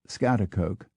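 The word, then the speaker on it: Schaghticoke: g HT c o k e New York pronounced scat Coke however there are many names that most Americans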